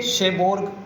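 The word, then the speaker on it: Cherbourg: सी एच ई आर बी ओ यू आर जी। ठीक है? शेबोग करके इसकी प्रोनाउंसिएशन आ रही थी।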